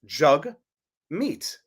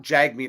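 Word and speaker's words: Jagmeet: name to be funny his name is pronounced jug meat he he wants to specified this pronounced jug meet not Jag meat as I thought it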